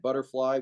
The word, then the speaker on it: Budderfly: sure uh our website uh a friendly website butterfly with 2DS 2DS is in dog okay we'll